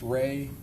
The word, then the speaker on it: Rey: There's also a visual spatial ability test and I'm going to have you explain or pronounce that for us. the REY test. Ray, the Ray Astrich complex figure test.